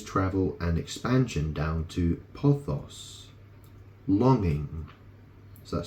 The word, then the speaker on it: pothos: aristobulus put his travel and expansion down to posos longing so that spelled p t h oos pothos longing he wanted to go beyond anything and